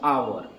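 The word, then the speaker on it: hour: अब देखिएगा कि आवर जो आप लिखे हैं एच ओ यू आर, ये लिखे हैं आप एच से यानी कंसोनेंट से शुरू हुआ है, लेकिन इसका प्रोनाउंसिएशन क्या है बाबू? आवर। आवर यानी अ जो आ रहा है पहला साउंड यानी वॉवेल साउंड आ रहा है तो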